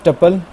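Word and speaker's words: tuple: अच्छा, नेक्स्ट हमारे पास टपल, ट्यूपल भी कहते हैं इसको, प्रोनाउंसिएशन डिफरेंट हो सकती है।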